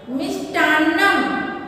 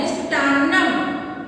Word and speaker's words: मिष्टान्नम: मिष्टान्नम, ना संयुक्त है, मिष्टान्नम, ना पे थोड़ा जोर डालना, मिष्टान्नम। अभिनंदनम, अभिनंदनम।